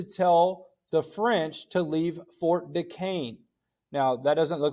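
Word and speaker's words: Fort Duquesne: is ordered to tell the French to leave Fort De Caine now that doesn't look like it says Fort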